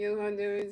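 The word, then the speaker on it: Jhoan Duran: You just don't say the H in there. But you know it's spelled like J H O A. But you say they say they say Yondur.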